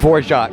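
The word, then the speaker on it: Dvořák: his name right Antonin Dvorak I think it was the New World Symphony I think yeah what you said on Dvorak four shot there you go for Jacques the D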